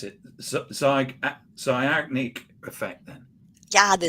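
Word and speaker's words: Zeigarnik effect: So what is the I'm trying to pronounce it. Zigarnik Effect, then. Yeah, the Zigarnik Effect.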